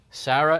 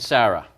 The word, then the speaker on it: Sarah: them well you know we pronounce them both the same Sarah and Sarah okay one has an H on it it's not pronounced now that's not the